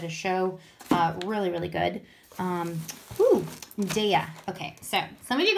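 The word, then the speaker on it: Daiya: Okay, so some of you guys call this Daya, but it's actually Daya. How I remember is a few years back they had these t-shirts and they said, have a nice Daya. So some of you guys mispronounced this company, and it's when you think about it, think of have a nice Daya. So it's called Daya.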